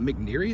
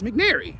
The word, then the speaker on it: McNary: I said McNeary. His man's name's not McNeary, it's McNary.